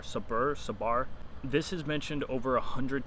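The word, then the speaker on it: sabr: I can't pronounce the word, but it's S-A-B-R, sabar.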